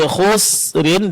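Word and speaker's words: خُسْرٍ: La fi khusrin, di sini huruf sinnya tipis ya Pak. Jangan ditebalkan sehingga akan mirip nanti dengan huruf shad ya.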